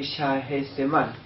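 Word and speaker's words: Shahzaman: Aquí las H se pronuncia como una J, Shahryar y Shah-e-Zeman.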